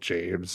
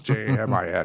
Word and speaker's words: Jamin: And so it's funny, his name's Jamin, and nobody can say his name right ever. So he gets called James, and it's Jamin.